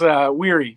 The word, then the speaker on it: Wehry: It's Wehry, but that's cool. Wehry, okay. A little weary, okay.